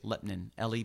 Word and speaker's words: Lebanon: But they say, the locals say Lepnin, Lepnin.